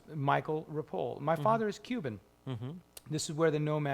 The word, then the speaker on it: Ripoll: know not legally uh everybody would call me Ripple riple riple Ripple oh I always hate that when people mispronounce my last name it's just rapole there's no I at the end yeah the common the first one is they put an i so rippley you know but uh